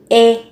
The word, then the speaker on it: 의: Thì các bạn sẽ có từ 의 này, khi nó là sở hữu, nó mang nghĩa là của ấy, thì được phát âm là thành e.